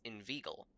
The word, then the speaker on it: inveigle: Say inveigh, nay, but inveigle. Make the latter rhyme with eagle.